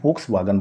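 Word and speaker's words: Volkswagen: अगली कंपनी है दोस्तों वोक्सवैगन, कुछ लोग इसे प्रोनाउंस करते हैं वोक्सवागन।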